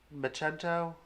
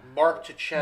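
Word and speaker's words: Marco Checchetto: Macento? I always pronounce it wrong. For what? Daredevil 25. Oh, I don't even know. Mark Tichetto.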